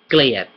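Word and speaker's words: เกลียด: But you might hear the L disappear, giat. which giat also has another meaning, which is honor. Giat. Hai giat is to honor, but the noun giat is spelled differently but pronounced similar to gliat when spoken, because a lot of times they leave out the l.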